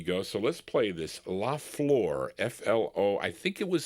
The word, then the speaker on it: La Flor: La Flor, F-L-O.